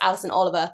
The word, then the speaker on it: Alison Oliver: I think she was, I said her name wrong, didn't I? It's Alison Oliver.